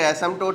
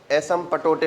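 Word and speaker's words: asymptote: ऐसे लिखते हैं, पढ़ते इसे एसिम्प्टोट है। आप चाहो तो एसिम्पटोटे बोल सकते हो। एसिम्पटोटे नहीं बोलना है, IIT जाओगे एसिम्पटोटे बोलोगे लोटे फेंक के मार देगा प्रोफेसर। इसको एसिम्प्टोट बोलना है, P साइलेंट है।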